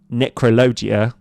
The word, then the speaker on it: Necrologia: gaining we can cast a card like necro necrologia yeah that's how you pronounce announc that um and as an additional